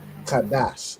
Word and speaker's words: Qadash: Kadash.